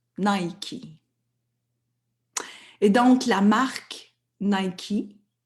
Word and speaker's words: Nike: a voulu s'identifier à ses ailes qui se prononcent Nike.